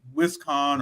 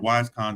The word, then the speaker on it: WisCon: started, going to Aresia, WisCon, or WiseCon, depending on how you pronounce it, and a few other similar cons like that, and just kind of, exploring, evaluating, learning, sometimes messing up.